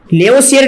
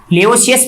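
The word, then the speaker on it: Lavoisier: लेवोसियर ने दिया, ये लेवोसियस भी कहते हैं, लेवोसियर भी कहते हैं, सभी जगह अलग अलग नाम प्रोनाउंसिएशन के अकॉर्डिंग दिया गया है।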